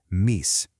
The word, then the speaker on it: mice: For hundreds of years, the word we spell M-I-C-E was pronounced meese.